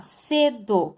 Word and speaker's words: cedo: Qual é a sílaba tônica da palavra cedo? Você fala cedo ou cedo? Cedo. Então, a sílaba tônica é C. Por isso, ela é grave, porque ela é uma palavra paroxítona.